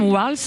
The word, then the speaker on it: Walz: américains toute cette semaine team Wals je le prononce à la française le nouveau colissé de